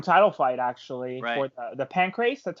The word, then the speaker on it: Pancrase: had an interim title fight actually for the Pancrase.